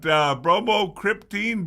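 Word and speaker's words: bromocriptine: Bromor cryptine. B I'm I'm happy that I pronounced it correctly.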